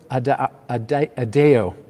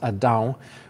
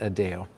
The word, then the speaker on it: Adao: the day was Pedro adeo and I say a little bit funny because in Portuguese that's pronounced adao which is the Portuguese word for Adam but he pronounces it adeo and he talked about